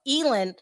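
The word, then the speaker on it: Ghislaine: cannot pronounce that name someone had to tell me it does it does not pronounce the way that it's spelled elen and it starts with the G anyway whatever we're talk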